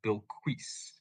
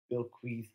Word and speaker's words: Bilquis: to step in uh I think and I could very well be wrong but I think it's supposed to be Bill quis okay Bill quis uh evely or something